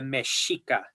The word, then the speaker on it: Mexica: Tenochtitlan 500 years ago, they were the Mexica, Mexica. And so then Mexica became Mexica. And then from that came Mexico or Mexico. If you go to Mexico, you'll find that frequently the X and the J are used interchangeably.